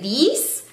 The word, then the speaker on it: these: No se dice, a pesar de que ven una S ahí, se dice, no se dice these, sino que se dice these.